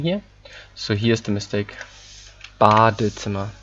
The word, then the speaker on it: Badezimmer: Badezimmer, nicht Badzimmer, okay? Badezimmer. Don't forget the E.